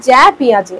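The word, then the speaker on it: Jean Piaget: হু ইজ পিয়াজে মানে জ্যা পিয়াজে একচুি যেটাকে আমরা ইংরেজিতে লিখি জিন অনেকে জিন বলে বা যেটা আমরা বাংলাতে উচ্চারণ করি জ্যা পিয়াজেই জ্যা পিয়াজে ছিলেন একজন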